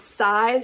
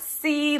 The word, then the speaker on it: Sai: It's Sai, short for Silas, not C, like, yes, in Spanish.